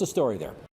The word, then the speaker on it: Aislinn: BUT YOU DO NOT PRONOUNCE IT ACE LIN. IT'S ASH LYNN.